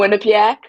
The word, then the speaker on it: Quinnipiac: I'm going to mispronounce this university, so I'm going to have you go ahead and tell me. Quinnipiac, Okay, Quinnipiac, okay, that was or going to you could be.